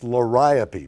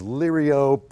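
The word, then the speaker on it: Liriope: pronounce that one uh it's liopy but it comes in as lyriop or laropi whatever uh it's a wonderful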